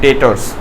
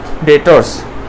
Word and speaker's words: debtors: तो उसका नाम है डेटर्स। इधर बी का प्रोनाउंसिएशन नहीं होता, तो उसका नाम दे दिया होता है डेटर्स।